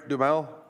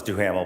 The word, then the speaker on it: Duhamel: Did I say it right? Dumel? Oh, don't. Close enough, it's Duhamel, but thanks. Duhamel.